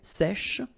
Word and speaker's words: sèche: So remember, we've got this E accent grave here, so it's really open. Sèche, okay, sèche, and then cheveux.